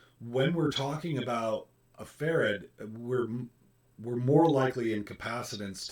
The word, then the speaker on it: farad: I had a student make a mistake once and called them ferrets, like the little Weasley animals. Do not. Just do not. It is farad.